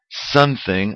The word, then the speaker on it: something: Atlantis swelling this year something a base day something podemos decir que no I Sol in la palabra something in my soul in la palabra sometimes porque la palabra que